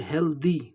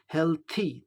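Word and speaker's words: healthy: यहाँ एक बात जान लें, जनरली लोग इसको प्रोनाउंस करते हेल्दी, द का उच्चारण करते हेल्दी, लेकिन सही उच्चारण क्या होगा? हेल्थी, थ का उच्चारण होता है हेल्थी.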